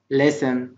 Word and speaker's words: listen: عندنا listen ده فعل معناه يستمع وحرف T silent أو less مش listen. في ناس بتقولها listen لا غلط listen to stories يستمع إلى القصص.